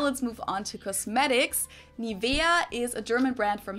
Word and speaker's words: Nivea: pronunciation pretty funny here English native speakers usually say Nivea niia in German we say nia nia so the emphasis is on the E this is a German